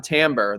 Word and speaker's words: timbre: it looks like it would be timbre. I still don't totally understand why it's not, but timbre. Yeah. Yeah. So tell me about why. Talk to me about the timbre, the sound.